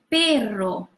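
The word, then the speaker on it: perro: which one it is so this one is the soft are Piero and this double R is the rolling R take draw we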